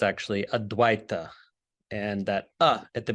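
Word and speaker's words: अद्वैत: the basis of the Sanskrit term aduita commonly mispronounced advaita but it's actually a Dwight and that uh at the beginning is a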